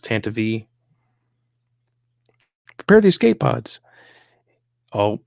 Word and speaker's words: Tantivy: that's how Pablo said it's supposed to be pronounced Tantivy prepare the escape pods oh here she is